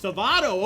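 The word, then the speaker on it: Σάββατο: So, so shout out to the Boomer server and uh Ghost Rider showing us the Greek Sabato, too. Pronounced Savado.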